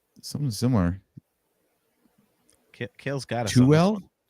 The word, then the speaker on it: Tooele: Toel. What about you, AJ? Something similar. Kale's got us. Tuel? Tooele.